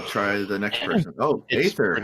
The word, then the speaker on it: Aether: Oh, Aether, how are you? Did I pronounce your name right? I actually go by Aether, but it's technically pronounced Ether.